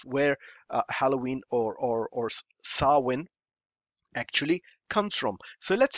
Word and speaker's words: Samhain: Transcom about halloween or some hein pronounced saman so what is it